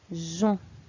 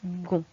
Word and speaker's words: pigeon: On remarque que c'est écrit G-E-O-N. En réalité, le E, c'est la lettre qui permet de prononcer jon. Sinon, nous aurions dit gon. D'accord? Par contre, le E est muet. Il transforme le G en je.